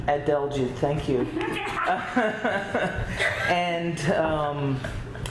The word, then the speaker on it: adelgid: are being attacked by a fungus called woolly adulkid uh i think i'm pronouncing that correctly adelgid thank you and um it's hard to control